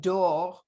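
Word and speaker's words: דור: In every generation, the word dor, I'm an American, so I pronounce it door, but I've worked a lot. I've worked really hard on my reishes over the years, and I still can't say them.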